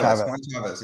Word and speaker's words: Chaves: Chavez or CH I always say your name wrong chave Chavez yeah it is okay right I mess up